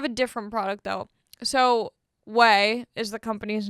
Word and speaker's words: OUAI: different product though so whey is the company's name o u a i o u ai it's pronounced whey so i have their